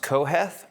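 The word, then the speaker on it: קהלת: So preacher is interesting because in Hebrew, it's pronounced Koheth, which means preacher or teacher.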